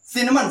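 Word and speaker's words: cinnamon: सिनमन, सिनमन miss होता है दालचीनी, इसका साउंड क्या होगा? स होगा, क्योंकि सी प्लस आई है।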